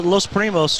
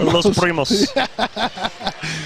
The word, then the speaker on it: Los Primos: And then El Salvador Los Primos, try their authentic pupusas, street tacos, said that and wrong. more. Say it right. El Salvador Los Primos. Oh, you wanted me to roll the R. Los Primos.